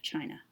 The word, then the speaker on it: Qin: really powerful leader of China and he is actually the person that China is named after because his name qi n is pronounced chin and this is the origin of the name of china siwon deve was the